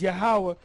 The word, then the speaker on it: Yahweh: And it says in the Hebrew, Yah-ha-wah-ha, which is Yahweh.